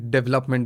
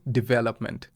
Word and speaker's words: development: हाँ, then development बोलते हैं या फिर development बोलते हैं, which is not correct. The correct pronunciation is development. Okay. Okay, because it's a stress timed language. आपको पता होना चाहिए कौन से syllable पे stress डालना है।